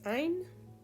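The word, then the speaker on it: عین: The letter Ein is pronounced as same as Aleph actually. A. Again, that's in Farsi language. In Arabic, that would be pronounced very differently and distinctly.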